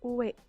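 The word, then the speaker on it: 上: Selanjutnya ada kanji uwe, atau bisa dibaca a, uwa, dan jo. Kalau berdiri sendiri itu bacanya uwe, artinya atas. Lalu kalau ditambahi garu di belakang, bacanya jadi agaru, naik.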